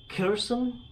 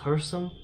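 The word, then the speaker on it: Kherson: correctly and the Herson so the K is silent I've been calling it cursum but listening to uh you know the Russian folks pronounce it it's the K is sound so it's pronounced hearsum like her her and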